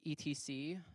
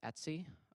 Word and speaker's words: etc: Um, the etc directory, pronounced Etsy, um, or ETC.